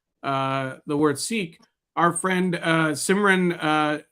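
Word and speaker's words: Sikh: For those wondering, the correct pronunciation of the word sik is with a short I and an aspirated K, just the way you are describing it.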